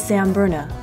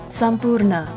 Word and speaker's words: Sampurna: So the next restaurant is Samburna, which I've heard Indians pronounce as Sampurna.